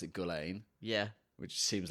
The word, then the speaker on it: Gullane: Gullane number 1 Golf Club preview.